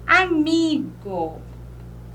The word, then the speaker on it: amigo: Amigo. Felicidade. Agora. Viram aí? Ó, amigo, eu separando 1, 2, 3. A última e a penúltima, o mi, que é a sílaba mais forte.